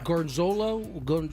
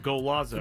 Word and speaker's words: Golazo: I think that's the Gorzolo? How you pronounce it? The Gorzolo? Oh, Golazo. Golazo.